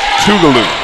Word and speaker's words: Tougaloo: who thank you for helping me with the pronunciation toodaloo three-point attempt loose ball that's gonna go off